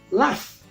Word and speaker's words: laugh: Es laugh. La pronunciación es laugh, sin embargo la escritura no es con F, es con GH.